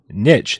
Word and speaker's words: niche: So like, but these guys have carved out their own little niche. It's how it's pronounced, you guys. Niche.